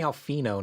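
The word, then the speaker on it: Alphinaud: say the D no it's definitely it's definitely alfino not not Alan Alano I don't think it's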